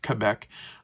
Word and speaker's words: Quebec: Quebec or I mean it's technically pronounced Quebec um all the way